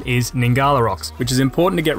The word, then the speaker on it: Ngkala Rocks: called nah the rocks now the rocks or gnarly rocks yeah nah the correct pronunciation is ningala rocks which is important to get right unless like